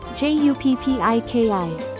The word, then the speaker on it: 十匹: We replace this h with pp. so it becomes PPIKI. For 8 and 10, we do the same processing as we did for the satsu example. Then add PPIKI after that, becoming HAPPIKI 8匹 or JUPPIKI.